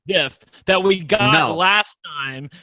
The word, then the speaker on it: GIF: Like, I can only hope that we get such a great GIF, and it's pronounced GIF, that we got last time when you were